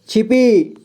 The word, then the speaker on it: छिपी: तो इसे क्या पढ़ेंगे, छिपी, छिपी, ठीक है, क्या पढ़ेंगे, छिपी। पी को अधिक समय तक उच्चारण हो रहा है, आप ध्यान से सुनिए, छिपी, छिपी, ठीक है।